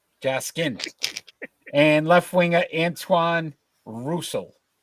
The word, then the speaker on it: Jaskin: Right winger Dimitri Jackson. Not spelled like that kind of Jackson. Jaskin.